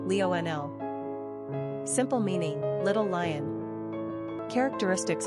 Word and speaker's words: Lionel: French number of syllables two ranking popularity 733 pronunciation elaino Leonel simple meaning little lion characteristics of Lionel practical